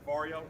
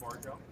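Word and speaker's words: Varjo: my name welcome for barrio not pronounced bargo and we are leader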